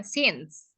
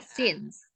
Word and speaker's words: since: Bukan science ya, since. Oh iya Ini sih. Kak Rafika sering salah nih ya, diulang-ulang terus padahal aku udah sering kasih tahu loh ya. Since ya, since. Cara bacanya since. Kalau science itu beda lagi ya.